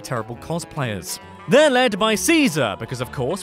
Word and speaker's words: Caesar: cosplayers they're led by Caesar because of course but Legion members pronounce it as Kaiser this is because in Latin the seas are hard which is the sentence